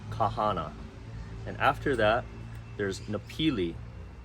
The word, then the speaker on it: Napili: and after that there's napili it's pronounced nepili and this further south